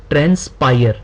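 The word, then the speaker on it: transpire: अभी है आपके सामने ट्रांस्पायर ठीक है ट्रांस्पायर्ड इसका पार्ट ऑफ स्पीच जो है वह वर्ब है इसको हम रीड कैसे करेंगे प्रोनाउंस कैसे करेंगे ट्रेंस पायर इसका मीनिंग क्या है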